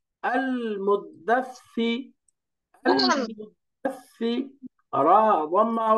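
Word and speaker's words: المدثر: হামজা ফাতহা, লাম সুকুন আল, এখানে শেষ। মিম দম্মা, দাল সুকুন মুদ, তাহলে আল মুদ। তারপরে দালের সাথে সাকে মিলাই দিবেন এবার। সা ফাতহা, সা, দাল ফাতহা, সা সুকুন দাস, সা কাসরা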